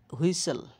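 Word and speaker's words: whistle: এলই দিয়ে শেষ হওয়া শব্দগুলোতে সাধারণত টি এর উচ্চারণ হয় না। যেমন হুইস হুইসেল হুইসেল কাস্টল কাসাল হাসেল টির উচ্চারণ হবে না এখানে টির উচ্চারণ হয় না।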